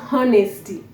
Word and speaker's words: honest: tip another thing is honesty and those who are good in grammar say the Hedge is silent so yes honesty H is silent you don't say how